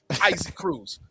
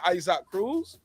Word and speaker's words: Isaac Cruz: would call him isaac isaac cruz let's be clear we won't call him ice hock cruz we want to call him his name with the proper pronunciation now he oh come